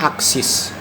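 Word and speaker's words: axis: pada mesin CNC biasa disebut dengan aksis a x i s dibacanya aksis pada umumnya mesin CNC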